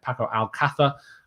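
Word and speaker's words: Paco Alcácer: a lot of potential paco al qaeda uh or pacquiao alcatha um if you want to get proper pronunciation is obviously someone that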